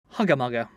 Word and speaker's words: hugger-mugger: Hugger-mugger. What? What-a-mugger? Hugger-mugger. Hugger-mugger. So it's spelt H-U-G-G-E-R-M-U-G-G-E-R.